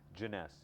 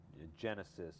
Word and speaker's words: Jeunesse: this is a joke all the time, is pronouncing the name of the company. Everything else falls in place, it's easy. Jeunesse, you know, I've heard people say Genesis or Jonas.